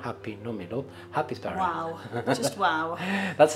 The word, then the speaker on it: Happisburgh: No, Happisburgh. But is Happisburgh the way I pronounce it? That's how it's spelled, but it's called in Norfolk, Happisburgh.